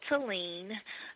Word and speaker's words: Talein: That's T-A-L-E-I-N is how you spell Talein, and that's how you pronounce it, Talein. So I was telling Jerry, I said, now how you can remember to how to pronounce my name is think about Talein and Machine.